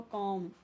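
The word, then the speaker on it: comb: तो देखो कॉम यहां पे बी साइलेंट है।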